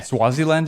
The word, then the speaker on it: Swaziland: It was yeah, Swaziland, is that right? No. Am I pronouncing that right?